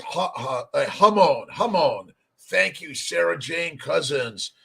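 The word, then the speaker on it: jamón: Let's see, pronounced Hamon.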